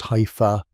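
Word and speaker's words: hypha: Each thread or hypher, pronounced hyur grows at its tip, extending outward like a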